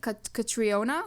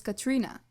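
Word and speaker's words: Catriona: she's written as krion katriona katriona whatever but actually this is supposedly a Welsh name I think I'm I apologize if I'm wrong but supposedly it's pronounced actually as Katrina okay Katrina yeah so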